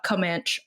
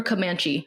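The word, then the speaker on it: Comanche: high school graduate of uh comman Oklahoma or kamanche Oklahoma sorry I had to look up how to pronounce that because it looks easy and then I still did it wrong so so Noah press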